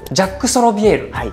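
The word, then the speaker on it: Jacques Solovière: んですけどえ読み方がちょっとジャックジャックソビエルへえそうなんですねこの ues とかは読まないんだそうですね分かり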